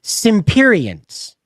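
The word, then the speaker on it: Semperians: the world of the Simperians, right? Now, it's spelt like Semperfi, S-E-M-P, but the way they pronounce it, it sounds like S-I-M-P, the Simperians, okay? Simperians. And that's how they say it.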